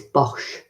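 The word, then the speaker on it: Boch: Bosh yeah but box oh it's yeah it's Bosch bang okay terrible at pronunciations honesty product and rubbish rubbish so yeah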